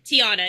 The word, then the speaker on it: Tiana: Am I saying your name right, Tiana? Tiana, yes. Tiana. Gang, gang. It's like the movie Princess and the Frog, There it is. if you've seen it.